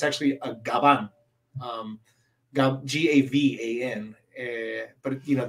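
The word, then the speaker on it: Gavan: but it's actually a Gabon um g-a-v-a-n but you know the v in Spanish is pronounced like a b it's a labial so um and garbanjo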